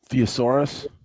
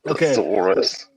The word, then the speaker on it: thesaurus: Theosaurus. Theosaurus. Theaurus. Yep. Yeah. I pronounce it wrong. It's thesaurus. So according to the thesaurus,